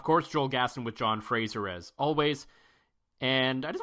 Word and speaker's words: Fraser: the difference is is people default to the the the radio comedy Frasier right which is the French way to pronounce my last name because there's an i in there which is a derivative of the word strawberry no problem I love